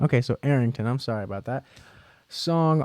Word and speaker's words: Arrington: what a crazy comic Arrington pronounced air ringtone okay so Arrington I'm sorry about that